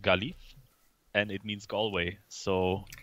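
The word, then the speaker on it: Gaillimh: So my number plate on my car, for example, says Gailim, which is pronounced Galif.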